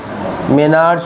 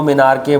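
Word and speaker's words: menarche: बोलते हैं यहाँ पर, मेनार्च बोल दो, मिनार्के बोल दो, अलग अलग लोगों की अलग अलग प्रोनाउंसिएशन है, कोई इशू नहीं है।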